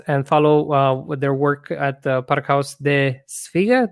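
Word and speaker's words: Pakhuis de Zwijger: Please follow Servaz and follow their work at Parkhuis de Zwijger. Did I say it right this time? Yeah, you said so it's Parkhuis de Zwijger.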